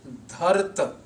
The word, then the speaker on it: Dharat: This word Dharat is different in structure, in pronunciation, and in meaning than the word dharati used in the first line of the shlok in jap composition at the end.